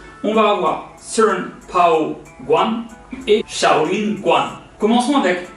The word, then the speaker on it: 棍: Le mot bâton va se prononcer guan.